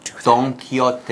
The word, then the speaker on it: Don Quixote: we tell you that it's a Spanish name, that might make the interesting spelling and interesting pronunciation a little bit clearer. What is it again? Don Quixote. No, not Don. No. Don Quixote. Yeah, Don Quixote. That X there, it kind of throws everything off, but like Mike said, it's a Spanish word.